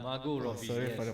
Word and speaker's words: Margot Robbie: Oh, Margaret Robbie. Margaret Robbie. Yes, that's it. Or Margot Robbie, I think. It's not. Yeah, Margot Robbie.